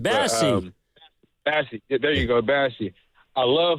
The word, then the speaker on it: Bassey: There you go, Bassey.